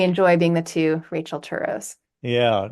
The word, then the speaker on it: Turow: There's a very famous novelist named Turow, Scott Turow. Any relationship there? No, we both pronounce it Turow, actually.